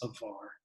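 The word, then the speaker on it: עבר: word for crossover is avar in hebrew the b is pronounced like a v of r in this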